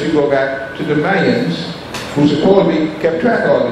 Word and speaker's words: Mayans: The Mayans, as they called themselves, and Mayans, as I was taught was the correct pronunciation, were a race that was very agronomistic, and they did one thing well, kill.